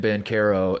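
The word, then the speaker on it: Banchero: brain and listen that i've since had people reach out to me and they're like no no he's always been bankero it's just everyone messed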